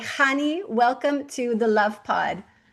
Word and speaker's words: Chanie: And so with all that to say, Hani, welcome to the Love Pod.